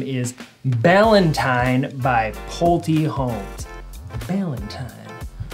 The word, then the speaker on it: Ballantyne: Ballantyne rhymes with Valentine.